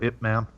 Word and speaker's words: Ip Man: pretty sure you pronounce that Ip Man.